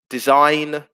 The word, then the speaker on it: design: with a silent e design there's a silent g there autumn uh where there's